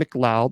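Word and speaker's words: McLeod: Jason Mloud. That's how you say it.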